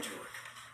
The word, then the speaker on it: Julick: I'm Julick. spelt the white trash way, and Julick pronounced as if giving cunnilingus to one of the Hebrew faith.